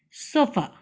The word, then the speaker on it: chauffeur: We call it as, or we pronounce it as sofa.